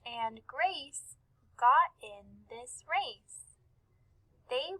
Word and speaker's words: Grace: We can see that the name Grace has the soft C in it, and we can hear it at the end. Grace.